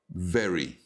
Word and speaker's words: very: You've got very, with a strong V, V sound, okay?